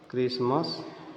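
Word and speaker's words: Christmas: follows the letter सी यदि सी के साथ में एच रहता है तो वहां पर एच साइलेंट रहता है जैसे कि यहां पर सीच है ये हो गया एंकर अरकाई क्रिस्मस क्रिमा इन सब में क्या है सब में एच साइलेंट है क्योंकि सी के साथ में एच है यहां केमिकल हो गया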